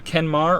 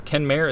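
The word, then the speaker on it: Kenmare: I love it but the town is called a Kenmore or Ken mayor it's spelled ke and ma REE but we got a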